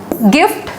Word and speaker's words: gift: जैसे आप बोलोगे कि ये क्या लिखा हुआ है, ये लिखा हुआ है गिफ्ट, GIFT गिफ्ट।